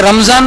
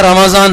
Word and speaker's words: رمضان: خاص خیال رکھنا چاہیے۔ جسے رمضان بول دیتے ہیں، حالانکہ اصل میں رمضان ہے، تو عام بول چال